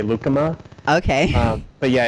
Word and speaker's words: lucuma: vanilla Luke Luke Luke how do you say that lucuma I say I say lucuma I think probably a lot of people might say lucuma okay but yeah it's